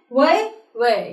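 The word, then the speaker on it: Huawei: laptops you know mobiles so we pronounce it why I have fun many people pronouncing it who are it's a very popular brand but we pronounce it y way yeah the right to announces what they answers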